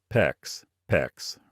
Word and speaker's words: PEX: The approved alternatives are copper, PEX, rhymes with flex, or CPVC, depending on your local jurisdiction.